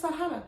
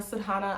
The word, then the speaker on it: sadhana: ask so what is sahana i know i say it wrong it's sadana sadhana i'm gonna say how i